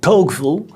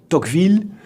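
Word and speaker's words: Tocqueville: in the possession of the dockfield family americans pronounce his name as togel but i will use the french pronunciation tokville not so much out of snobbism but simply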